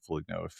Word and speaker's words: Foligno: my knee taken out by uh the Marcus Foligno's of the world." I like pronouncing it Foligno.